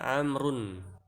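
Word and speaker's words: عمرو: kalimah, seperti di kata amrun. Ya, lihat di sana ada huruf ain, mim, ro, dan waw. Tapi dibacanya innaha tuntok, bahwasanya itu dibaca bagaimana? Amrun, bukan amruun atau amru, bukan, tapi amr.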